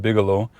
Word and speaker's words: Bigelow: There's this road here called Bigelow, which rhymes with gigolo, and that may be